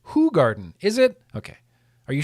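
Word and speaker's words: Hoegaarden: Eifer says Hogarden is pronounced Hoogarden.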